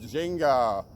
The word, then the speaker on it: ginga: And swing in Portuguese is pronounced ginga. And ginga is the basic footwork of capoeira, which is this Brazilian sport / dance martial art thing.